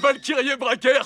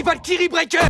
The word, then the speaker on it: Valkyrie Breaker: Ouais, Valkyri Bracker, c'est ça ? Avruti, on dit Valkyrie Breaker.